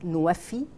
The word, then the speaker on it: NWFE: It's pronounced in Arabic, Nuwafi.